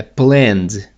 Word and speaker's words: planned: Então, plan no passado, porque termina vozeado, é planned. O ED tem som de D, planned.